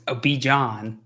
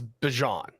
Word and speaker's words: Bijan: Oh wait, no, he's Bijan.